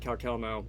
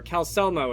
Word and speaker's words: Calcelmo: runes which nobody but Calcelmo or Calcemo is how the NPCs around here pronounce him.